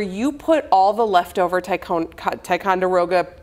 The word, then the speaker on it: Ticonderoga: I might not have pronounced it right. Oh, a Tiruga? Ticonderoga.